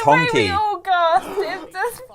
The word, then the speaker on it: Honkai: voice he said no he said it wrong it's honky how much money did